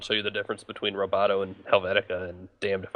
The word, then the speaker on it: Roboto: UI around a font that they call Roboto, which coincidentally rhymes with Metro, which is what Windows Phone 7 is.